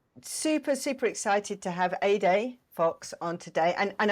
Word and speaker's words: Ede: super excited to have a day Fox on today and and I'm so I love the mnemonic that you gave us to kind of pronounce that like a sunny day uh because of course